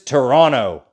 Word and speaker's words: Toronto: canada's biggest city is toronto yes that's how you say it toronto not toronto or toronto it's kind of only two syllables toronto it's bigger than vancouver